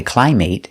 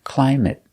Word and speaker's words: climate: So, they're always pronounced with a short sound it it. Example, climate. We never say climate. It's always climate.